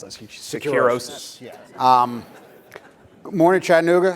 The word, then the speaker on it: Securosis: In addition to his role at DevSecOps, Mike is the analyst and president of, how do you pronounce that? Securosis.